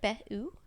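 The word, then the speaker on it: Be U: Behu, Okay. BE space U, but I believe it's pronounced Behu.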